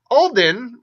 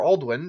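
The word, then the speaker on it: Alduin: Alright, so Alden, or Aldwin, depending on the pronunciation of the name, is again the considered alternate name of Kotosh by some.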